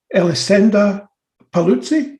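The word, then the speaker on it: Elisenda Paluzie: And you have Elisenda Paluzzi. Have I pronounced that right?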